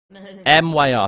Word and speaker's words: Myr: Maya, I think it's pronounced... M-Y-R. I think it's pronounced Maya in Game of Thrones. But I think it's one of those things which can be pronounced Myr or Maya.